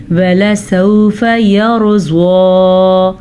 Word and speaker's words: يَرْضَىٰ: وَلَسَوْفَ يَرْضَىٰ، را کو پر پڑھیں گے اور زوات کا تلفظ پر پڑھنے کے ساتھ ساتھ کھڑی زبر بھی ادا کریں گے.